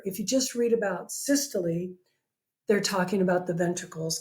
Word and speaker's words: systole: word is systole I know it looks like systole but it's pronounced systole systole is contraction of a chamber of the